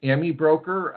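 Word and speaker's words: AmiBroker: you who have used Ami broker or sometimes I hear a pronounce Amy broker um that is uh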